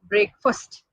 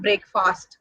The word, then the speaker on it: breakfast: And the word should be pronounced as breakfast, not breakfast, breakfast.